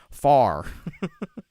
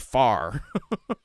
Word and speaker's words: fire: fire I like it if you're you're here in Pittsburgh would pronounce it far we don't we don't we we turn that into just the one syllable word in Pittsburgh sometimes it's just called far I saw I saw